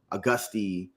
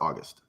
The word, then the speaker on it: August: I'm still auste Austy like all of these mispronunciations how do you like for your name to be pronounced my pronounce last name is pronounced August August yeah with a e yeah cool August